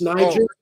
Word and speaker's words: Niger: all it wouldn't be pronounced the way you're pronouncing it it's Niger give me that way I don't speak that